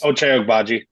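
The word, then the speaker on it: Ochai Agbaji: Ottobaji.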